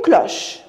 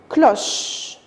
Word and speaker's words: cloche: Une cloche. Alors, qu'est-ce qu'on a dit l'autre fois? La voyelle E, c'est une lettre finale muette. Ça veut dire que vous n'allez pas la prononcer à la fin. Cloche.